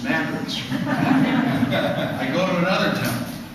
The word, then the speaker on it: Madrid: over and I go to these towns uh Madrid no it's mad I go to another town uh I'm a